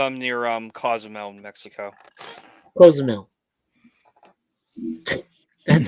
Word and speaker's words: Cozumel: Cozumel. That's how they pronounce it, Cozumel.